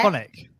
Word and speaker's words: Phonic: So if people want to get in touch with your business, because it's pronounce it properly for me. Because is it Phonic? Yeah. Phonic.